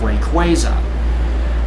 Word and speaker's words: Rayquaza: Because basically, the Quay part is basically representing that of Quasar.